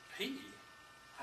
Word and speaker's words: pi: And I said, sure, it's something, P something. And she said, P? I thought you knew Greek. It's pi.